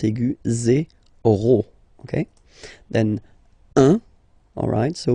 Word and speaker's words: un: Then 1. Alright, so when you combine this U and N, you get the nasal sound 1, 1.